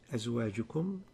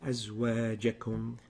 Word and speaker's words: أزواجكم: You pronounce it أزواجكم. The الجيم مفتوحة. أزواجكم is the right way.